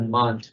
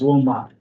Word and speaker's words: Wilmot: Mont, yeah. Just when it goes to. A lot of people say it that way. I've heard it that way tonight, but it's Wilmot.